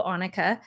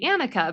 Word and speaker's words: Anukica: So, my name's pronounced Anukica, and I usually correct people all the time when they say Anakah because I do have a preference that it's Anukica.